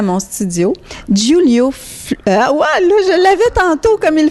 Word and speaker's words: Giulio: déjà le prénom le prénom est pas toujours facilement prononçable les gens font guulio Roulio à l'espagnol ilessayent pant c'est c'est